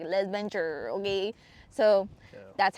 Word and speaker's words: Les Ventures: your interpretation is but how I say it is like less venture.